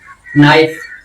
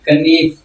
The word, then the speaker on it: knife: इसी तरह नाइफ छुरी, KNIFE इसकी प्रोनाउंसिएशन क्या होती थी, कनीफ।